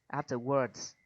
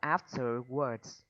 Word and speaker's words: afterwards: Afterwards. After work. Mình đọc là afterwards. Tại cái chữ này Afterwards. Đây là âm ơ nặng chị ạ.